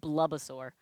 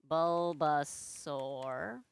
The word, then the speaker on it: Bulbasaur: I said Bubbasaur. Bulbasaur.